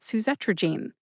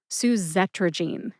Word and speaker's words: suzetrigine: Put all four syllables together and you get susetrogene. Emphasize the second syllable. Z. See if you can hear the emphasis when I say it again. Suzrogene.